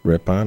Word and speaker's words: Ripon: I think this is Ripon Wisconsin Ripon oh Ripon all right I knew I was saying it